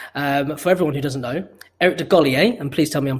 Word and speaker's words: Eric DeGolier: So obviously, before we get started, for everyone who doesn't know, Eric DeGolier, and please tell me I'm pronouncing your surname right, is the Well CEO.